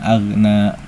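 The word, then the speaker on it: أغنى: Ma ag ginnya jangan mantul. Di sini rawan banget mantul. Jadi agak hati-hati gin sukun ini hati-hati aja di bagian ini.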